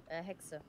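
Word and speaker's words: Hexe: Hexa.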